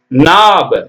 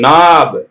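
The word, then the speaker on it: knob: இ ஆனா கே போடணும் என் ஐ எப் இதான் உச்சரிப்பு நியூ அறிந்துகொள் Neil நோனுடைய past tense Neil மண்டியிட்டு பணி நிக்கஸ் அரைக்கால் சட்டை நிக்கஸ் நாப் கே என் ஓபி பி நாப் சரிங்களா அடுத்தது நாம பார்ப்போம் கேக்கு பாருங்க knoன்னா முடிச்சு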